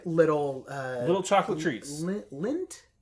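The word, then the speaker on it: Lindt: uh little chocolate treats lint yeah am I pronouncing that right l-i-n-d-t Lind chocolates yeah the little chocolate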